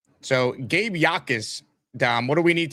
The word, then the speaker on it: Jacas: Illinois pass rusher Gabe, is it Yakus or Jackus? How do we actually pronounce his name? Yakus. Exactly. The J is The J is silent. So, Gabe Yakus, Dom, what do we need to know about him?